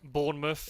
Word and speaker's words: Bournemouth: Any place name in the UK, or at least in England, that has mouth at the end of the name is pronounced muff.